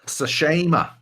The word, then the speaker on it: Tsushima: Last up, we got Ghost of Tsushima or Tsushima. We can pronounce it properly now. Yeah, because we know how to say it. Yep. Tsushima.